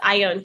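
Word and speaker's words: Ione: So it's I own Huber.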